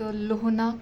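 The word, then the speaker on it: Lhonak: आया था, जो एक लोहनाक लेक है जो कि सिक्किम के नॉर्थ में लोकेट करता है, यहाँ पे साउथ लोहनाक लेक। इसका प्रोनाउंसिएशन अपने अकॉर्डिंग करना, लोहनक ही बोलते हैं वैसे तो यहीं पे वो फ्लड आया था।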